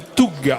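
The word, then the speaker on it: Tough: Alors le Toug s'écrit T-O-U-G-H.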